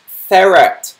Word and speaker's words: ferret: the vowels after the r sound like it's pronounced ferret not fit or whatever that was there though